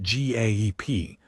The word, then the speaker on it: GAEP: Most of us just called it GAEP, pronounced like a verb, because that's what you